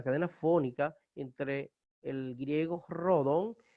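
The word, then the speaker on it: ῥόδον: Por ejemplo, tenemos esta palabra que es rodon. Rodon es rosa. Retor, orador, donde viene retórica. Retor, fíjense que no decimos retórica, decimos retórica. Decimos rodon como en rosa en castellano.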